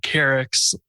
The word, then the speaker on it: Keryx: It was also my first open source project called Keryx, which was... Can you spell it?